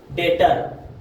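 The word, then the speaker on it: debtor: और नेक्स्ट अगर किसी वर्ड में बी टी के पहले आता है तो वहां भी बी साइलेंट होता है। जैसे कि डे डाउट डेटर ऐसे वर्ड है जो कि वहां पर टी के पहले आया है और बी साइलेंट हो गया।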